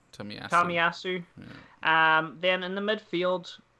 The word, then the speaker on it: Tomiyasu: Can anyone give me the pronunciation? Tomiyasu. Tomiyasu.